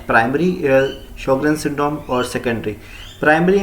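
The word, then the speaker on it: Sjögren: अब हम स्टार्ट करने लगे शोगरेन सिंड्रोम। इसमें जे साइलेंट से पढ़ते हैं शोगरेन सिंड्रोम या फिर सिक्का सिंड्रोम।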